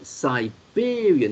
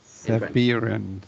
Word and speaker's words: Siberian: So Siberian. Now you can pronounce it correctly. Siberian Pelmeni. Siberian. No, not that. Don't say that. No. Pretend it's the alcoholic drink. Okay, comme la bière. Siberian. Yes, that's it. You're saying it correctly now.